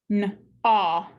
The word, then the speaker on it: gnaw: Gnaw.